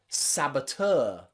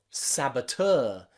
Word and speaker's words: saboteur: from french words like saboteur saboteur and you can see that t-e-u-r-tur is pronounced tur with that er sound so eu here is pronounced uh saboteur other words like this